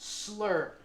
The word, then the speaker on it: SSLR: SSLR, pronounced “slur” means a septal S and a Lateral R which is more than 35 mm.